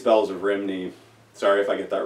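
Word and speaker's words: Rhymney: The Bells of, well, they say Rimini, but I think it's pronounced Rumney.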